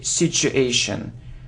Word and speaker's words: situation: mortgage mortgage look so I often hear situation situation but if you look at the pronunciation the correct translation is the sound sure sure sure so situation situation so you need to say situation ok well done ok